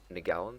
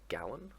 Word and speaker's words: Ngalinn: So what you're going to do is you're going to come to Hickam Survey in the Ngalinn system, or Ngalinn, whichever way you prefer to pronounce it, and you're going to be doing data delivery.